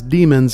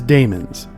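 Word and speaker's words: daemons: mostly by Matthew as demons in the show and that is incorrect pronunciation it is Damon's Dae M ons they are spelled that way for a reason because they are not demons that is something different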